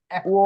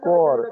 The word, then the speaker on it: cuore: কুঅ, কু অ এরকম হবে না, কুঅ, কুঅ হবে। ঠিক আছে, তো কুঅ রে। ওকে, Cuore, ok.